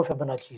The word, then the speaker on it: Fibonacci: अच्छा अगर हम इसको फिबोनाची को Google करते हैं तो कई लोग इसको फिबोनाची भी पढ़ते हैं। लेकिन ये जो सही इसकी प्रोनाउंसिएशन है वो फिबोनाची है।